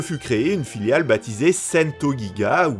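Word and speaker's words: St.GIGA: créée une filiale baptisée sento giga oui oui je prononce à la japonaise parce que paradoxalement c'est moins galère celle-ci fut placée sous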